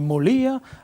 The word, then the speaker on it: Moglia: vous appelez Serena Moglia, on dit Molia en italien, on ne prononce pas le G.